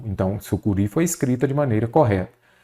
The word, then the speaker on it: sucuri: primeiro ponto vamos pegar a palavra aqui su Curi vamos compreender primeiramente Qual é a sílaba tônica dela a última se a última ela é uma oxítona eu acentuo as oxítonas